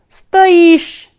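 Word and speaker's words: стоишь: The same way, Ty stoish, Ty stoish. Here stress is on E, stoish. So, when you conjugate stoic with T, it becomes stoish. Again the spelling is same, but stress is different. Stress is placed here on O, while here on E.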